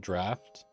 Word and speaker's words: draaft: I said draft or draft or draft. I'd pronounce it draft.